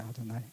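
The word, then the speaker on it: אֲדֹנָי: 아도나이.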